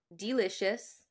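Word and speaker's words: Deelishis: Delicious. Sorry, I said that really weird because the name is spelled really funny.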